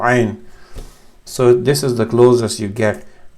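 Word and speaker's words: ع: It's pronounced with the middle of the throat. It's a full sound with the open mouth. Ain, it's from here. It's not an, because then it becomes an A.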